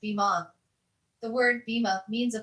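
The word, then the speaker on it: bimah: This area is known as the bima, pronounced bima.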